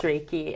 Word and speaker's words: Reiki: Reiki Master actually a Reiki although yes it's pronounced Reiki and I feel like I feel uncomfortable when